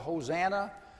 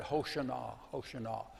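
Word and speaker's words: Hosanna: to shout hosah it we call it hosana the that uh I heard a a Jew a Jewish student pronounced that HOSA HOSA and and if they they described it as a word that a drowning person would would yell out hos hosah save me save me it's what it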